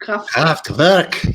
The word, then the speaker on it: Kraftwerk: When I hear German words with English accent, it's like you put a needle in my heart. They're called Kraftwerk. Kraftwerk, yes. Yeah. The R we don't pronounce the R so prominent, yeah.